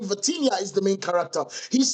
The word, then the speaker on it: Vitinha: Vitinha.